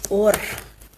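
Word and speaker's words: אור: La palabra en hebreo es orf, un va y un resh. Y se pronuncia así como or.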